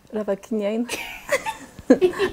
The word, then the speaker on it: Ravakiniaina: Ravakiniaina.